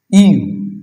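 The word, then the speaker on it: ewe: Gender, এটাকে বলে হচ্ছে ইউ, ইউ বলে। এই ইউটা, এটার উচ্চারণ কি হচ্ছে? ইউ, ইউ, এই যে আবার সেই ইউনিভার্সিটি, ইউরোপিয়ান, ইউনিফর্ম, ইউনিট, তাই না? ইউনিয়ন, ইউনিয়ন ইউ, তাহলে এখানে হবে এ হবে।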